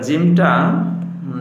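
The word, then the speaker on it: ج: তার নাম জিম তার নাম জিম চমৎকার এবার জিমটা যেহবার মধ্যখান জিমটা উচ্চারণ হয় কিভাবে যেহবার মধ্যখান তারপর বরাবর উপরের তালুর সঙ্গে লাগাইয়া উচ্চারিত হইবে।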